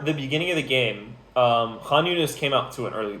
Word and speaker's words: Khan Yunis: Khan Yunis versus Tulkarem.